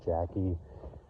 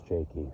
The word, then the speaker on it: Jakey: So if you ever see any uploads of the birds, and I put Nico, Joey, and people thought it was Miss Jackie, no, it's pronounced Miss Jakey.